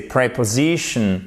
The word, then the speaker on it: preposition: On pourrait se dire le E, tiens, va être prononcé comme un I court. Ben non, c'est pas le cas. C'est preposition. OK? Il est prononcé comme le E qu'on a vu sur la première diapositive.